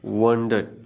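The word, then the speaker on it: wondered: जबकि वंडर नहीं है, वंडर्ड। वंडर्ड वो की साउंड आती है।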